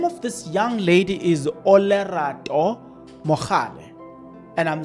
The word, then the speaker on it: Olerato: The name of this young lady is Olerato Mal, and I'm saying it correctly, and I'm not missing anything.